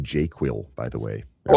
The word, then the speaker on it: JQL: easier to learn um properly pronounced jQuil by the way.